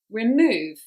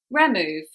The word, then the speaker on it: remove: where the stress is try putting the stress on all the syllables so both the syllables and see which sounds correct so for example remove it sounds correct on the second if you put it on the first how does it sound remove it doesn't sound as correct so always have a